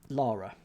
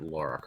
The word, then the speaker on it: Lara: pronounce her first name Lara good how else is there to pronounce it Lara Americans Americans might add a u into it to make it Laura oh right okay fair